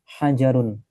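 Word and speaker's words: حَجَرٌ: Ha ha-nya kurang keluar udaranya. Ha hajarun.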